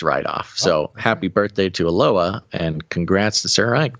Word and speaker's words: Aloha: Aloha. It's spelled aloha, but pronounced aloha, who is turning 8.